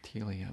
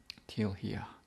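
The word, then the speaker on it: Teal'hia: I say telia, but it's spelt T-E-A-L apostrophe H-I-A. Till here.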